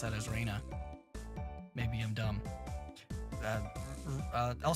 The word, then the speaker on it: Rena: end bad oh okay you would know how it's pronounced if you heard the Vaas R is pronounced with short e and no I interesting okay huh okay